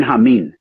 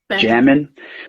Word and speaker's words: Jamin: But I spell it out phonetically, because it's still spelled Jamin, which if I wrote that down, you'd say it was DJ Jammin', which I think that's kind of whack sounding, Jammin'. So it's Hameen, Hameen.